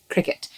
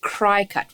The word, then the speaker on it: Cricut: Now, you would have heard me say it already, and it's pronounced Cricut, just like the sport and just like the insect.